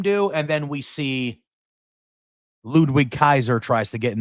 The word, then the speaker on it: Ludwig: And then we see Ludwig Kaiser tries to get in the ring and attack Randy from behind. Ludwig. The W is a V. Not pronounced as Ludwig. Ludwig Kaiser.